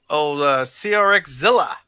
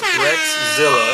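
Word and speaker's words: RXzilla: This is old CRX Zilla. No, RX. Oh man! So let's correct this right now. Uh-oh. So the name is Rexzilla. Oh, Rexzilla. All together. Oh, yeah, Rex. But it's spelled RX, huh?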